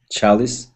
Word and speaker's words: chalice: breaches wise precise kis chalice chalice chalice yes chalice but police and and lice perfect and 22 20 as